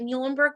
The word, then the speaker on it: Muhlenberg: fami and i represent muhlenberg college easy way to remember how to pronounce that is think of the animal the mule that's our mascot marty emile so muhlenberg